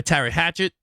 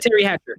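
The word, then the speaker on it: Teri Hatcher: encoder yeah um when Paris was played by ter Hatchet um did I say her name right it was it Terry Hatchet Terry Hatcher Terry Hatcher Terry Hatcher yeah play by yeah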